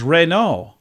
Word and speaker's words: Renault: Other manufacturers that have been pronounced wrong, Renault is Renault.